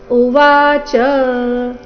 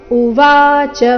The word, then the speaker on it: ಉವಾಚ: ವಿಷೇದಂತಮಿದವ್ ವಾಕ್ಯಂ ಉವಾಚ ಮಧುಸೂದನಹ ಇದನ್ನ ಉವಾಚ ಈ ರೀತಿ ಚ ಮೇಲೆ ಲಯ ತಗೊಳ್ಳಬಾರದು ಕಾರಣ ಚ ರಸ್ವ ಇದೆ ಉವಾಚ ಶಬ್ದದಲ್ಲಿ ವಾದೀರ್ಘ ಸೋ ಸರಿಯಾದ ಕ್ರಮ ಉವಾಚ ಮಧುಸೂದನಹ ಇದು ನೋಡೋಣ ಪೂರ್ತಿ ಶ್ಲೋಕ